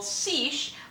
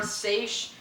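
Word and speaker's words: seiche: tsunami and this is something called ceech or seish um both pronunciations are fine uh this is an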